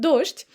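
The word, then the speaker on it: дождь: It's pretty um phonetically pretty unusual word because sometimes people say dosht. I prefer to say dosht, but some people say dosh like sh instead of zh d and soft sign they say sh. How to say it's up to you. Both variants are just fine.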